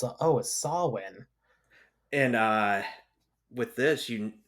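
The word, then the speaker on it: Samhain: going to say is that Solen how it's pronounced actually looks like Sam Hein right yeah I remember the first time I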